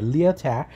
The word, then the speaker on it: Lyotard: The first one comes from the French philosopher Jean-François Lyotard, and he, so I'm over-pronouncing the French to be very clear, Lyotard, he wrote the famous book The Postmodern Condition, A Report on Knowledge in the 70s.